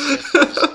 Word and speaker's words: Tifa: Anyway, it's still pronounced Tifa because that's how I've always pronounced it, so boom in your face.